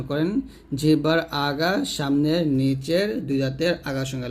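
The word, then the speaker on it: سين: করবেন যা এরকম আর সিনটা দেখুন জিহ্বার আগা সামনে নিচে দুই দাঁতের আগার সঙ্গে লাগিয়ে শীষ ধ্বনির সাথে অর্থাৎ শীষ বের করবেন একটা শীষ ধ্বনির সাথে উচ্চারণ করতে হবে পাতলা করে এই যে এরকম সি এরকম উচ্চারণ করবেন শিনটা জিবার মধ্যখান তার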